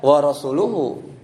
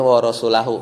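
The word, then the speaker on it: وَرَسُولُهُ: Makanya wa rasuluhu di bacaan kita hafaz ya. Enggak tahu ada yang baca riwayat yang bacanya wa rasulahu kayak tebakan antum kan kan atof gitu kan.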